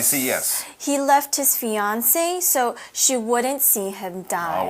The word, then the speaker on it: fiancée: just one eat but the pronunciation is the same for male or female fiancee fiancee all right yes so he